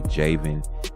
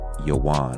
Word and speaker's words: Javan: They replaced the Y's with J's, so people would say Javan. It's actually Yawan. Okay, V's are pronounced like W's, and the Y's were replaced with J's.